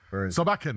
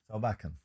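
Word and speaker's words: Solbakken: Sabalken, that's it. Sabalken. That's correct. Yeah, and I was lining up for you to do it because I know you can. Well, Sabalken is an experienced manager, and in a way,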